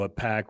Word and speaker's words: AIPAC: A pack. Well, and I think the AI the fact that Apac, even though it's pronounced Apac, is AIPAC.